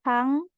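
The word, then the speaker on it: 빵: sini pakai sang BAP Jadi tidak boleh ada bunyi H bukan Pang bukan Bang tapi pang pang selanjutnya ada Uyu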